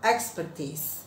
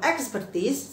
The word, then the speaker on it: expertise: Oke, next, nomor 4 teman-teman, adalah kata expert sama expertise. Nah, kalau expert saya jamin teman-teman sudah benar membacanya. Tapi kalau expertise saya sering dengar dibacanya expertise. Ya, salah ya teman-teman, bacanya adalah expertise.